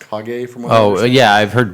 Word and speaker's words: Kage: I guess it's its cage it's always spelled KAG I have 11 legend of cage but it's pronounced hog a from oh yeah I've